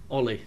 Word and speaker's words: Ole: I asked the man himself how should we pronounce your name OE please it's easier so now we know Ian